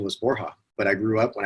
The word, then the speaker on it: Borja: it Georgia or Borja it's Borja is the official pronunciation actually went by Borja for